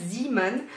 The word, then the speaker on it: Zeeman: euh zan et oui ça s'écrit deux œufs donc ça se prononce zan et je vous avoue